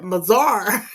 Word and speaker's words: Missouri: And they say it's like Missouri, and that's the other thing you get to learn how like the locals say. I was like, oh, it's not. It's not Missouri. We call it Missouri.